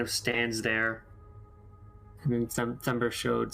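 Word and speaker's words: Themberchaud: I thought it said Timber Chud. I mean, that might be how it's pronounced, but it seems like the French pronunciation, Thembershode.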